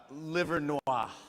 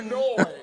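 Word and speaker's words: Livernois: How would you pronounce this word? I would probably say uh liver Noir.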